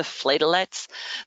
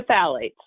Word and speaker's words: phthalates: sodium lauryl sulfate and the sulfates the the phlegolites the um sarah and i have this joke that i can't pronounce this word so say it one more time sarah the phthalates thank you very much the parabens the formaldehyde